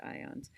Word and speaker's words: IONS: It's pronounced IONS.